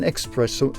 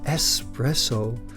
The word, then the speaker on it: espresso: try to find an expresso a special machine on um I always talk about expresso but it's espresso I have to pronounce it one nice and right of